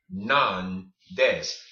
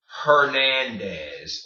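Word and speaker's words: Hernández: pronounced ed none dates and none deaths and none des it is not pronounced Hernandez or hair mayonnaise ok it is n-none dense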